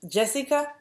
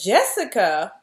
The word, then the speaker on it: Jessica: And we find out that Jessica, She-Devil, which is spelled Jessica, the J is pronounced with a Y.